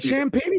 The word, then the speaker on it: Champagnie: You said Champagne. That's how you say it. Yeah, Champagnie.